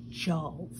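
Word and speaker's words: Tjalve: traveling with Loki and a young man called Joe that's kind of a funny name to us in English but it's spelled t-j-a-l-v-e and he was actually from Earth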